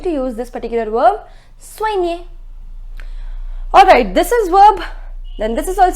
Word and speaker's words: soigner: It is soigner. It is soigner. I told you the pronunciation of OI is OA. So SOI becomes SOA and then near.